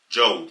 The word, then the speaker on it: Job: Job 16, Job, not Job. It's spelled J-O-B, right?